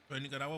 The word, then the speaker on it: Nicaragua: Are you in Nicarawa right now or are you somewhere else? All right, Domin. Nicaragua.